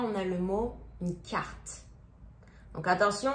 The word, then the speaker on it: carte: Donc là, on a le mot une carte. Donc attention, on dit pas carta. Non, ça souvent je l'entends. Mais non, on a carta.